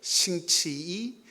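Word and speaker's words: 星期一: 싱치이, 싱치알, 싱치산 이렇게 발음을 합니다.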